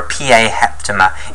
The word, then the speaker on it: PA7mer: Okay, so it's called a PA7mer, or a PA heptamer is how you'd actually pronounce that.